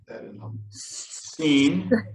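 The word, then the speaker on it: שׂין: Seen. Seen. Seen, yeah, like I have seen the glory of the coming of the Lord. I've seen.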